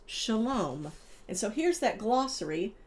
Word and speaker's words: shalom: And then shalom. A greeting or farewell often spoken by Jewish Jewish people pronounced shalom.